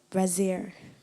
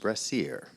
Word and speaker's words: brassiere: bite of speech it's a noun am I pronouncing the word correctly brazier yes it can also be pronounced brassiere brazier i e r i e no there's